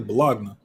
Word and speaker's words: bologna: it's halloween jalapeno jalapeno kinda like bologna is really balogna yes exactly exactly okay